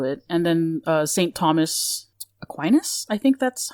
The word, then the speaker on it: Aquinas: 8 sins to it, and then Saint Thomas Aquinas, I think that's how you pronounce the last name? Yeah, Tommaso d'Aquino, yes, Aquinas.